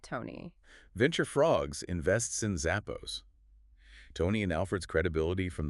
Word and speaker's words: Zappos: playing on Zapos and adding an extra P to help with pronunciation.